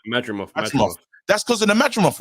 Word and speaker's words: Madrimov: And that's because of the Madridov. I can't say, I'm getting his name wrong. Madrimov.